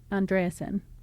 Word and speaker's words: Andreasen: Yes, so then I looked at the pronunciation, and after all, it is not on and not an. It's like in the middle. Andreasen.